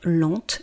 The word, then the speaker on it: lente: Et donc il est important, vous voyez lent l. Je ne prononce pas la dernière consonne, par contre lente, L e N T E, je prononce parce que c'est au féminin.